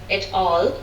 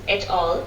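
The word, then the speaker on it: et al.: in this system uh this word by the way which he pronounced as at all uh can also be pronounced at al and that's my pronunciation that l is more standard than at all so at l would be pronunciation number one at l uh it's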